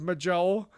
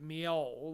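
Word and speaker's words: Mjoll: But like my I would be running around with Majel or Mol. I called her Majel for the longest time before I knew how that like Nordic and like Vikings you would you would pronounce it Mol like a Y.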